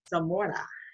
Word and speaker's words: Zamora: i'm excited to have our guest today manuel zamora i say your last name right you have to pronounce it right yeah no that was perfect